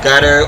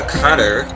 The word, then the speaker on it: Qatar: And House of Tani rules this country, that would be Qatar. I've also heard it pronounced gutter or cutter, but I've said Qatar. That's what I normally say.